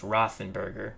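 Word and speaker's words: Roethlisberger: element says i don't have to try to pronounce rothenberger actually it's rothenberger but whatever moore and parker your split backs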